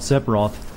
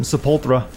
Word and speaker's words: Sephiroth: know what I called sephiroth before I learned how to say it properly I think I called sephiroth I added like a nail into separat's name and I called him sepultra that sounds like a